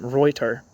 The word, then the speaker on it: Reuther: His father probably would have pronounced his name Reuter. TH is usually T in German, but I'm imagining that Americans called him Reuther.